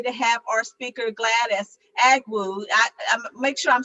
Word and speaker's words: Agwu: We are so honored today to have our speaker, Gladys Agwu. I make sure I'm saying it right there, Gladys. Agwai, that's all right, Agwai.